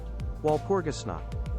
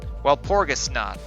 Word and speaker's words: Walpurgisnacht: Okay, pronunciation. Here we are. Walpurgisnacht. Walpurgisnacht. Walpurgisnacht, yeah, it's German.